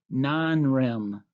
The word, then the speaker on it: NREM: sleepwalking we call that non REM sleep we write it like you can see here on this slide capital n capital R capital e capital M but it's pronounced non REM sleep okay go to the